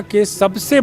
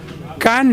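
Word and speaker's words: Cannes: कैन film festival में जिसको India में कांस कहते हैं लोग फ्रेंच में कैन बोलते हैं उसको क्योंकि फ्रेंच भाषा में कई शब्द साइलेंट होते हैं तो इंडियंस को अभी कैन बोलना नहीं आया तो वो कांस कहते हैं वहां उसके रेड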